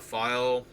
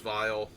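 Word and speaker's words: phial: really well with the file. I keep calling it file. I think it's actually pronounced vial, even though it's spelled that way.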